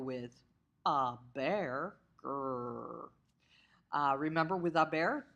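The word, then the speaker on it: haber: bear or remember with a bear the H is silent so don't say it therefore the forms of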